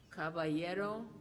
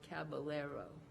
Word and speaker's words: caballero: This word has 2 pronunciations, caballero or caballero.